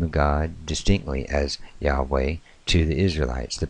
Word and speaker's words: Yahweh: name and it shows the tetragrammaton so we pronounce it as Yahweh in that particular spelling in our english